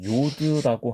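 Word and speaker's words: יוד: 제의로 음역이 많이 되었다 그런데 그것이 사실 발음이 j의 발음이 아니고 독일어권에서 사용하는이 요트에 발음을 이렇게 한 것이기 때문에 사실은 y로 발음하는 것이 맞다 그렇게 좀 이해를 해 보시면 되겠습니다 자 이상으로 요드의 발음에 대해서 알아봤습니다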